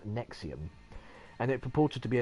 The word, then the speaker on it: NXIVM: She was a senior member of a sect called, it's spelt NXIVM, so it's all like Latin letters, and it's pronounced Nexium, and it purported to